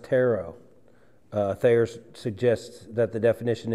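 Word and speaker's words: τηρέω: It's this word here, the Greek word behind kept is Strong's 508, and it's pronounced tero.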